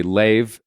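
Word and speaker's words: Leiv: It's spelled like Leif, but with a V, and I assume that. Anyway, Leif.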